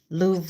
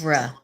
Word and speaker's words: Louvre: pronounced Louvre. Louvre. Louvre.